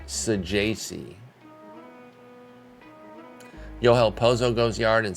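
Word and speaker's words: Saggese: Sajasi. Not Sagis. Not Sagassi. I've heard some hilarious pronunciations for this. I've said some myself. Because he was on one of my OOTP sims a couple years ago. But it is Sajasi.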